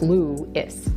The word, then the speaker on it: Lewes: And yes, even though it's spelled L-E-W-E-S, it is pronounced Lewis.